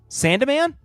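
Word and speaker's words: Sandeman: The E does get pronounced Sandaman?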